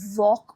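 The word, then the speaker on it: walk: होता है वो चला डब्ल्यू ए एल के इसे वॉक बोलते हैं वॉक इसमें एल का आवाज नहीं निकालेंगे हम बोलेंगे वॉक वॉक का मतलब होता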